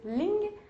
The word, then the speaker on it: ling: Le premier mot, on prononce ling.